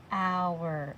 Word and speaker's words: hour: you write it too remember that has a special sound hour almost like out hour o Ur and our